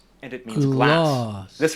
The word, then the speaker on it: glass: For example, this word has a long vowel glass and it means glass. This word has a short a vowel glass and it means ice cream.